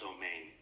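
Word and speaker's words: Amen: Maharaj, in Hebrew, it's pronounced Omein.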